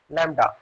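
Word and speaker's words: λ: by this particular symbol, which is pronunciated as lambda.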